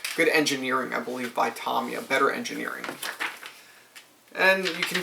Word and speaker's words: Tamiya: you about the aircraft Tomia likes to give you a nice little broch Shore I hear many people say Tamia I say Tomia because I believe that's actually how it is pronounced and you have one